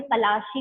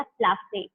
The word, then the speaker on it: पलाशी: उनके जो प्रोनाउंसिएशन थी, उन्होंने पलाशी को क्या बोला? उन्होंने बोला प्लासे, ठीक है। इस वजह से ये जो बैटल है, ये प्लासे जो है, नाम प्लासे पड़ा उनकी प्रोनाउंसिएशन की वजह से।